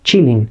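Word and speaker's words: Qilin: pronunciar su nombre y yo les decía el killing porque técnicamente así está escrito de alguna manera y resulta ser que la pronunciación correcta del nombre de esta criatura es chilling porque pues debe ser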